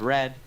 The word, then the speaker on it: read: her in the paper because read and R are like spelled the same in terms of writing when you read it like you may have even read about her in the paper he would have said red but you could also